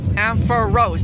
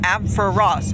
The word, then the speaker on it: Ampharos: Ampharos yeah and for Rose not AB for Ross okay okay okay